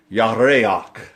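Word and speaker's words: ירח: It is yareach. Yareach. It is spelled Y-A-R-E-A-C-H.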